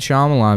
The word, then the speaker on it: Shyamalan: M Night Shyamalan.